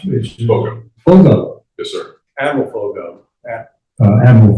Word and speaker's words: Foggo: Is it pronounced? Foggo. Foggo.